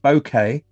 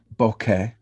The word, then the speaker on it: bokeh: Oliver's saying that bokeh and bokeh are both listed as correct pronunciations.